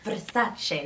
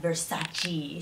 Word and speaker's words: Versace: She says it's Versace, not Versace. She hates how Americans say it.